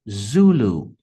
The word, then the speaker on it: Zulu: palavra código vai ser Zulu Zulu notem que a primeira sílaba também é a mais forte então o taxi vai